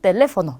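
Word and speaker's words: teléfono: 하나는 텔레포노 이렇게 되어 있고요. 하나는 카페 이렇게 되어 있어요. 자, 이 친절하게 찍어줬기 때문에 이 부분에 그대로 강세를 넣어서 읽어주시면 돼요. 그러면 텔레비시온 하게 되면 우리 TV를 뜻하고요. 텔레포노 하게 되면 전화기입니다.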